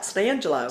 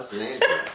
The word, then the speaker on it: San Angelo: And you say it right, Stangelo. San Angelo, that's right. When you grow up here, that's what it is.